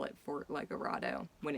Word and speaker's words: Legoredo: like a radio obviously it's spelled with an e so you would assume lego rado is correct but for whatever reason i remember calling it fort legorado more parrots more little